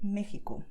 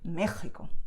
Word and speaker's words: México: One mystery word in Spanish is Mexico, which is written with the letter X, but the sound is the sound that you saw here. So most Mexicans would say Mexico, so with the sound very soft. But someone from I don't know, Madrid, for example, would say Mexico, stronger, okay? But even though you do write Mexico with the letter X, the sound is not X like taxi, okay?